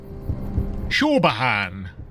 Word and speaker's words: Siobhan: It's It doesn't sound like how it's spelled. Shahan.